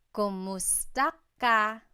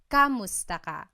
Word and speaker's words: kumusta: Kumusta ka? So it's spelled K-U-M, kumusta ka. But sometimes you might hear some people say kamusta ka, like it's a K-A sound.